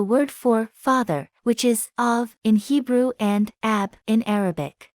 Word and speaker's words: אָב: this is the word for father which is of in Hebrew and a AB in Arabic in